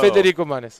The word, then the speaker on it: Federico Manes: Federico Manes.